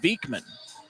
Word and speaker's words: Vikman: There was a video where he called himself Vikman. Usually, a guy's not going to mispronounce his own name.